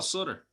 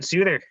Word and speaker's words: Sutter: So I'll say it right. Yeah, Daryl Sutter. You were saying Suter, Sutery.